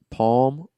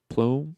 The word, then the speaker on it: Palme: So for those who are listening, I encourage you to look up the name Olaf Palme or Plume. I think it's pronounced Palm.